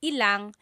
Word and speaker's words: ilang: When there's ilan ang, it's usually put together and it's ilang.